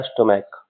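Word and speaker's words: stomach: इ एस जोड़ेंगे और जहां पर सी एच का उच्चारण क होगा जैसे ये मोनार्क लिखा हुआ है मोनार्क इसका प्रोनाउंसिएशन होता है मोनार्क और इसका प्रोनाउंसिएशन होता है स्टमक तो ये दोनों जगह सी एच का प्रोनाउंसिएशन क होता है इसलिए इसके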